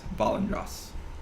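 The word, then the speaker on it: Valandras: Do you want me to spell that for you? Yes. Okay. Yeah. V-A-L-A-N-D-R-A-S. Valendros.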